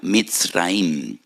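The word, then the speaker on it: מצרים: Y recuerdan la aflicción, la amargura de la esclavitud, porque la palabra Egipto en hebreo se pronuncia mitraim.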